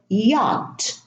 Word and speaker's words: yacht: Now, in the word yacht, there is a CH, and the CH, they are silent. We don't pronounce the CH.